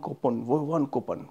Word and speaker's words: coupon: We always speak, we want coupon, but not coupon. Coupon. It's you have to pronounce this sound O.